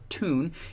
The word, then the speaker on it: town: research has shown that the Jordy pronunciation of the word town so tune is actually the original